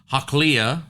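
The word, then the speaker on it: Hachilah: Saul comes down and he pitches there in the hill of Hakliah, is how you say that in verse number 3, which is before Jeshimon.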